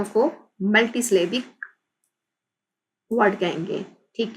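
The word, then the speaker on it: multisyllabic: Which are called multi स्लेबिक, multi स्लेबिक कहते हैं उसको, मल्टी स्लेबिक, मल्टी स्लेबिक, इसको प्रोनाउंस करेंगे मल्टी स्लेबिक।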